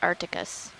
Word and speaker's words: arcticus: All right, Tracy, so you think the suggested shrimp we're seeing are Eusorgestes arcticus. Arcticus. Should pronounce the C.